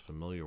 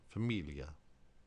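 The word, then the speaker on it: famiglia: When you have a GLI all together, it sounds very similar to the double L in million, million. Probably the most familiar word is familia, familia.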